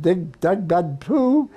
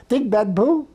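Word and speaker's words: Điện Biên Phủ: So we backed the French and we know the story most people know it of Doug Benpoo. Digban Pu is that the proper pronunci Yeah.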